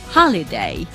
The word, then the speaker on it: holiday: This little apostrophe is showing us that we have to put the stress on the syllable which follows this little mark, this apostrophe. So we say holiday.